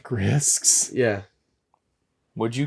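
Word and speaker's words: Grysks: They're pronounced Grisks.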